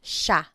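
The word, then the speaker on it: siya: point out the pronunciation it looks like it should be pronounced but it's usually pronounced Sha Sha Sila is theyo is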